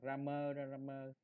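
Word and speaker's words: Cramer: Tiếng Anh nó đọc là Ramer đi, đọc Ramer đi ha.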